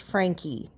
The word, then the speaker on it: Franke: All they said is their last name is pronounced Franke.